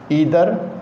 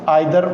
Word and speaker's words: either: तो देखते हैं यूज़ ऑफ नाइदर नॉर ईदर और। इसको नीदर नॉर ईदर और भी पढ़ सकते हैं। नाइदर नॉर आइदर और दोनों तरह से हम प्रोनाउंस कर सकते हैं।